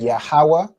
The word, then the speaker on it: Yahweh: this instance with Yahweh, we have Ya fully, we have Ha fully. All right, so if you pronounce the full letter ha, this singular connector is going to go over here, right? And then you know the last part where it's wa, so Yahweh, that's the wa and the ha connected.